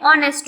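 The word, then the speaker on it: honest: Then second word है एन ऑनेस्ट मैन, यहाँ पे भी एच साइलेंट है, ऑनेस्ट हुआ।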